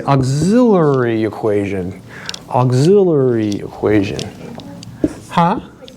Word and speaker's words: auxiliary: It's AUXI, I have to look at my notes, LL, like LL Cool J, auxiliary equation.